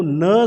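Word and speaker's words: know: अगर आपको कहीं भी इनिशियल पोजीशन पे ये के एन का कॉम्बिनेशन मिलता है तो कहीं भी के को क साउंड जो है वो प्रोनाउंस नहीं की जाती है, वो सीधा ही न बोली जाती है।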